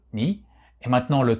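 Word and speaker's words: 二: du bas, et nous avons ici le 2, ni. Et enfin, le troisième, alors ni c'est la prononciation hiragana de ce kanji.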